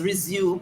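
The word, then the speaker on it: résumé: it as r-e-s-u-m-e as resume but it's pronounced resume in my days of going to school the e's were accented so you have the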